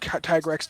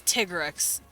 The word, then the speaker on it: Tigrex: tigrex yeah they reintroduced tyrex to the game or uh tigu tiger it's tigrex because in Japanese it's tigarette yeah they say tea instead of Thai so it's TIG Tigger X yeah like a I